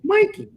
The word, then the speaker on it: Mikey: It's Mikey. That's how you pronounce her name. Mikey.